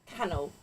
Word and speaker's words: Canal: Oh, canel. Canel. Didn't say it right last time. Apparently spelled canal.